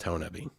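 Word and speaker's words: Honobia: 2009 ho nubby bigfoot festival and conference in honabi oklahoma it's spelled henobia h-o-n-o-b-i-a but i'm from the area from southeast oklahoma and it's pronounced tonaby so they had a huge festival every year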